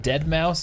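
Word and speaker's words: deadmau5: Is it Dead Mouse? But it's a 5 for the Mouse.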